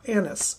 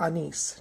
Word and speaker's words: anise: then we also have star Anis or anise depending on how you pronounce it and this is a